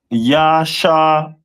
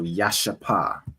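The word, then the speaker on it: ישפה: And their stone is a jasper, which is pronounced in the Hebrew as Yashapa. So Yashapa.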